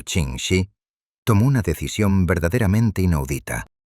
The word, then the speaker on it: Ching Shih: Comprendiendo que la burocracia tradicional y el orgullo masculino estaban arruinando su magistral plan de retiro, Ching Shih pronunciado Ching Shih, tomó una decisión verdaderamente inaudita.